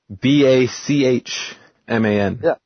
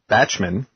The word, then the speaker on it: Bachman: B-A-C-H-M-A-N. Yeah, Bachman. Yeah, Michelle Bachman. Not Batchman. Shouldn't it be Batchman?